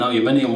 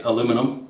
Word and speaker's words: aluminium: I know they're making an aluminium one, or you guys in the States say aluminum. You say it wrong, but there you go.